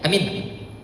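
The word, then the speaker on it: آمين: Kalau dibacanya alifnya yang panjang, ianya yang pendek, amin, percayalah artinya. Kalau dibaca pendek dua-duanya, amin, amankanlah artinya.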